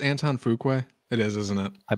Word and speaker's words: Antoine Fuqua: Is it pronounced Antoine Fuqua? It is, isn't it? I believe so, yes. Damn it. Okay, Antoine Fuqua.